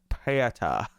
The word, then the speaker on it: Peter: Is it just pronounced Peter, or is it like Pieta? Peter? Pieta. No, I'd just say Peter would be fine.